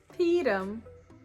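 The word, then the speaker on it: פּורים: Peerim. Peerim. This is how the name of this holiday is pronounced in Yiddish.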